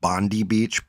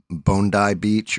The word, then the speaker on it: Bondi Beach: when I read it, I thought it said Bondi Beach, but it it's apparently Bondai Beach or Bond I I don't know. I'm going to call it Bondi Beach, though, cuz that's how it's spelled in Syria.